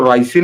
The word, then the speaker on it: ricin: रिसिन कह लीजिए उसको, अगर आप सामान्य अंग्रेजी में बात करें या जो रोमन इंग्लिश की बात करते हैं, जैसे बोला जाए वैसा लिखा जाए, तो रिसिन नाम का वो जहर